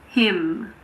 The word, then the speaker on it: hymn: We don't pronounce N if it comes after M at the end of a word. For example, autumn. It's not autumn. It's just autumn. Column, condemn, dam, hymn. What about the letter P?